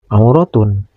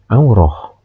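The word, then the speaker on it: عورة: Namun bilamana dihentikan membacanya maka huruf ta marbutah yang ada pada kalimat auratun tidak boleh dibaca auratun tapi harus dibaca aurah.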